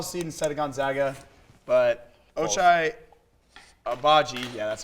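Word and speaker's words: Ochai Agbaji: been the overall seed instead of gonzaga but ochai obagi yeah that's how you say his name and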